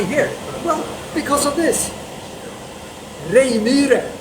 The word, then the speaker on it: Reijmyre: Reijmyre, as it's pronounced in Swedish.